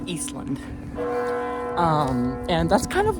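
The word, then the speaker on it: Ísland: It's actually pronounced Eastland.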